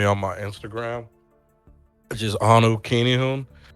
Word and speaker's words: Anukinihun: Oh yeah, you can always find me on my Instagram, which is Anu Kinihun. It's spelled ANUKINIHUN.